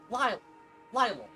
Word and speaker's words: Lille: Lille or Lille, depending on how you want to pronounce it. Lily, I don't know.